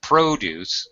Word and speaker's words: produce: from farming I dairy produce agricultural produce good job pronouncing it it's a first syllable stress because it's a noun produce as opposed to verb